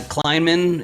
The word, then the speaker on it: Kleinman: i'm joined today with ann is it uh kleinman is is how you pronounce that all right very good excellent and